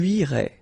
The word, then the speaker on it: irais: Tu irais. Same thing here, final S not pronounced.